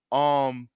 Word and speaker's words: Askeladd: Askeladd is a weirdo.